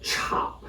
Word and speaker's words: 炒: to form the character, the initial sound changes from sh to ch as we pronounce the character 炒, not 少.